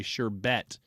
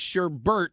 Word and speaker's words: sherbet: They almost all say sherbet. But I'm telling you right now that it's wrong and it's sherbbert is the right pronunciation.